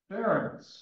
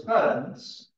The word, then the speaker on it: Ferenc: All right, can you say reference? Or say reference. Well, we can do better than that. Reference. Okay, now I'm going to take the RE off the front. What do you have left? Ferenc. All right. And in Hungarian, the C's are soft, so you still have Ferenc. All right, in Hungarian, you roll your R's. You can do that. Okay, so it's Ferenc.